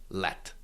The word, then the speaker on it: led: Yeah, there's duh at the end, but because it's the end of a of the word, it is pronounced let uh or hat that's hunger